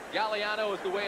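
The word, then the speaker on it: Gagliano: As you look at Bob Galliano, the G is silent. Galliano is the way it's pronounced.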